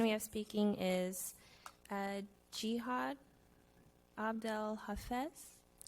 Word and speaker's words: Jihad: The next person we have speaking is uh Jihad Abdel Hafes and please correct me if I said your name so we pronounce as Gad.